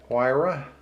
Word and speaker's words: Huayra: Okay, just outside of the top 10 is the Pagani Huayra, I think is how you pronounce it, with the Brembo decals on it.